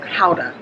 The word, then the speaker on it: gouda: all let me say this gouda is actually pronounced powder not gouda powder okay but one of the things that